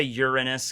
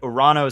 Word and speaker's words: Uranus: subject and he's like I don't say Uranus cuz it sounds like you know you're in or you know Reynes for obvious reasons and iran oh so i think is the proper pronunciation of the greek god who's named after so that's why i go with that yeah it's funny though